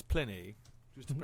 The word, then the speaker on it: Pliny: As a man who studied Latin, it's Pliny. Just to No, pronounce that's it Pliny.